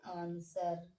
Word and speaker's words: answer: आंसर। देखिए यहाँ पे W का कोई भी उच्चारण नहीं किया गया है।